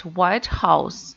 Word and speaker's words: White House: If we mean the word White House at the administration, right? Government administration in the USA, we should pronounce like White House. The first word is stress.